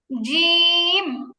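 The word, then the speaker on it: ج: তো এটা কেমন হয় আপনি যদি বাংলা বর্গীয় জয় এর মত জিম বলেন তখন আপনার জিহবার আগাটা উপরে তালুকা টাচ করে কিন্তু এটা জিম হয় উচ্চারণ সুন্দর হয় না বাংলা জ এর মত হইছে এটা কিন্তু আপনি যখন আরবি হরফ করবেন আপনার জিহবার মাঝখান উপরে তালুতে লাগবে জিম জিম এই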